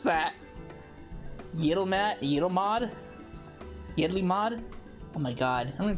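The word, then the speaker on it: Yedlihmad: Holy shit, I don't even know how to pronounce that. Yidlmod?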